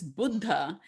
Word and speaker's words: Buddha: Because in America, you would say Buddha. And I was like, it's not Gouda cheese, it's Buddha.